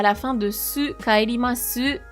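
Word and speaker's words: 帰ります: Pourquoi tu ne prononces pas le E à la fin de su, kaerimasu? Parce que le U à la fin des mots comme des et toutes les formes en mas, on n'insiste pas trop dessus.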